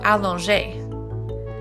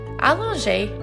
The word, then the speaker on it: allonger: Today, let's talk about allonger. Allonger means to elongate, and it is spelled A-L-L-O-N-G-E with an accent.